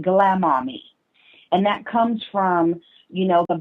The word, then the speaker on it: Glama.me: It's Glama, GLAMA.me. You pronounce it Glamami.